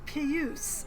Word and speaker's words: puce: It's pronounced puce, a sound that duplicants just can't seem to reproduce.